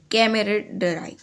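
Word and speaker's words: camaraderie: कैमरेडराई, CAMARDERIE, कैमरेडराई, कैमरेडराई. एक बार आप इसका प्रोनाउंसिएशन गूगल पे सर्च कर लेना, बट कैमरेडराई यही प्रोनाउंसिएशन है.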